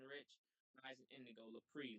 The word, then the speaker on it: Lapri: That's L as in Larry, A as in Apple, P as in Paul, R as in Rich, I as in Indigo, Lapri, like that.